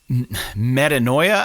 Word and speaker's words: Metanoia: And they have a song called Metanoia, I believe is how it's pronounced.